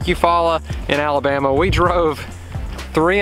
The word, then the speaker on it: Eufaula: special water I believe it is like a Foo Allah I believe it's like a Hawaiian thing and